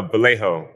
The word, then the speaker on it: Vallejo: Vell Drive 7-Day Adventist Church and I I pronouncing the name correctly is that Val it's uh Vallejo It's Kind ofo valo excuse me Val no